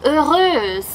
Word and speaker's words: heureuse: And the pronunciation is quite different, so make sure to listen. Il est heureux. Elle est heureuse.